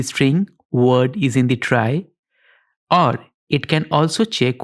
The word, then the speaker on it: trie: or a prefix tree a tire pronounced as try or a prefix tree